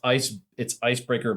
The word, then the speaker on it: Icebrkr: It's Icebreaker BRKR. So if you find like this spelled the right way, like you're gonna find something different.